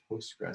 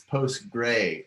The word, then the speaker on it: PostgreSQL: the floor is yours oh i just call it postgres you know some people leave off the s it's post gray and and i don't